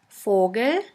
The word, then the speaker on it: Vogel: V is pronounced like the F in the word for. In German we have the word Vogel, Vogel, which means bird.